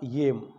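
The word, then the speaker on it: ylem: नाम था येम उस काल्पनिक पदार्थ का नाम था यम और जब इसको हम जो है क्या कई बुक्स में इलेम भी लिखा हुआ है क्योंकि इसकी स्पेलिंग है वो वाई एल ई एम लिखी हुई है ठीक है ना आगे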